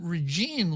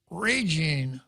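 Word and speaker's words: Régine: GI and E so with a primary accent over the e that means that there are two syllables and the in the name ray and Jean but the stress the emphasis has to be on the first syllable so her name is not regime Li it's raging Li and if one were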